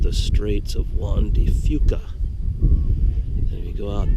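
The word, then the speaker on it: Juan de Fuca: out there is What's called the Straits of wandy Fuca and if you go out that direction you're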